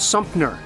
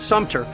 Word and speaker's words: Sumter: I also hear people often saying Fort Sumter instead of Fort Sumter, and I've even heard many people mispronounce Robert E.